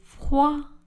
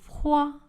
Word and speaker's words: froid: J'ai froid. Le D n'est pas prononcé à la fin du mot froid. J'ai froid.